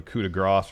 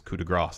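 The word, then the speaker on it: coup de grâce: And Corey Graves says coup de grace. And I think the latter is correct because coup de grace would be G-R-A-S. S, yeah. Whereas it's not spelled that way. It's spelled like grace.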